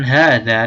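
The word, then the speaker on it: هذا: saya melafalkan Haza nah saya melafalkan Haza dengan hal yang dipanjangkan padahal setelah ha tidak ada huruf alif tidak ada huruf Mad kalau dalam ilmu tajwid ya Eh ada walaupun saya bacanya panjang tetap disini tidak ada alisnya atau walaupun gak ada alifnya kita melafalkan Hai ini dengan nada panjang Haza baitun nah ha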